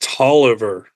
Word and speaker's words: Taliaferro: Is it Taliaferro Taylor? I think I ask every time. But believe it or not, that's pronounced Tolliver, if I have it wrong.